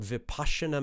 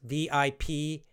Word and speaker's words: Vipassana: I would recommend for chronic disease, chronic pain, to practice something called Vipassana meditation. It's spelled Vipassana. Two S's, V-I-P-A-S-S-A-N-A, Vipassana. But it's often pronounced Vipassana.